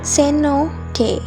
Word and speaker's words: cenote: at the other sacred cenote pronounced ceno day a cenote is an